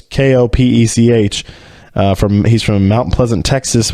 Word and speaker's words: Kopech: Michael Kopech or Kopech. I don't want to mispronounce that, but it's Kopech.